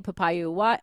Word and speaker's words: Papaioannou: PR consultant and owner of Inc., Papaioannou.